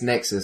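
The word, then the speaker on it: Nexuiz: Is it Nexuis? Well, that's what I thought because I copied the guy. Everyone just calls it Nexus. It's Nexus according to the Just called developers.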